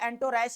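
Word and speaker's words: entourage: अब इसकी प्रोनाउंसिएशन जो है एंटोरैश है यहाँ पर।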